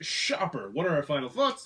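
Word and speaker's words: Schaper: All righty then, The Last Straw, the camel game from Shaper, pronounced Shopper.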